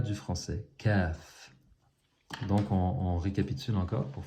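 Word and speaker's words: ك: La lettre qui suit, c'est le Kaf. Et ça, maintenant, c'est le K du français.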